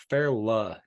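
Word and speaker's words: Fairleigh: yeah for that pronunciation the American pronunciation is fairla Dickinson Marilyn Dickinson none of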